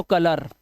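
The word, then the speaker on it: colour: video को पूरा देखो यदि किसी वर्ड के लास्ट में ओ यू के बाद अगर आर या एस लेटर आए तो ओ यू का उच्चारण सीधा आ कर देना जैसे यहां पे देखो ओ यू के बाद आर तो कलर आ का उच्चारण हार्बर ठीक है ऑनर इसी तरह से फेमस यहां पे आ इस तरह से ओ यू के बाद एस दिखाई दे तो डिलीशियस डिलीशियस उआ कुछ मत करना प्रेशियस आ की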